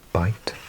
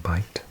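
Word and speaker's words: Bight: Bite here. Never seen this word before. Bite with a gh.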